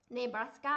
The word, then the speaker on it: Nebraska: ะ ค ะ familiar โ อ เ ค Nebraska น ะ ค ะ อ่ า น ว่